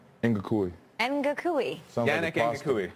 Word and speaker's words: Ngakoue: And it's friend of the show, 2-time friend of the show now, Yannick Ngakoue.